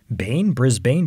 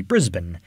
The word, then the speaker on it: Brisbane: at the end b-a-n-e you would assume you know bain brisbane but it's actually brisbane which was named after